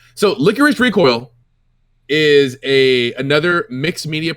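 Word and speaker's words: Lycoris Recoil: i'm pretty i'm like 99 confident it is pronounced licorice recoil because in the japanese dub i my ear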